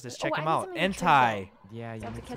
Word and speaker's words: Entei: Oh, is that how you say it, Entei?